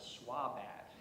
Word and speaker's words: SWBAT: And in the classroom, the teachers actually pronounced this out loud as SWABAT.